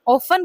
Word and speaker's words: often: OFTEN ऑफन कहलाता है, ऑफ्टन नहीं कहलाएगा, इसमें टी साइलेंट होता है, ठीक है।